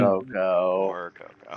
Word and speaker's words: Mxyzptlk: That's how awkward his fucking name is spelled. So his name. Morococo.